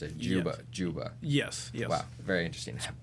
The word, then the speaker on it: Dziuba: uh I did not know that's how you pronounced it Yuba Juba yes yes wow very interesting polish okay very